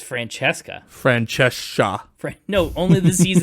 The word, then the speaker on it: Francesca: Yeah, see, the Italian, those C's make ch sounds. Yeah. It's Francesca. Francesca. No, only the C's and the E's. Okay. Frank Iska.